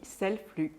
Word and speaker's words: Selfflux: en aparté qu'on dit Selflux. Oui, voilà, ouais, parce qu'on parle des flux, les flux de production, donc je ne prononce pas le X à la fin.